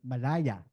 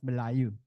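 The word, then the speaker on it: Melayu: to the Malay area, Malaya, right, is actually a British invention. That's how the British would, in the 19th century, pronounced, or that's how they could pronounce Malayu, Malaya.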